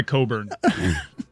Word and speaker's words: Cockburn: painful that's the worst he goes by coburn for obvious reasons well then spell it coburn i mean they spelt it cockburn number five x-ray hip